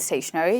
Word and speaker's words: stationary: Let's come to the next set of words that we have and this is stationery and stationary. You pronounce them just the same way but they are spelled differently as you can see.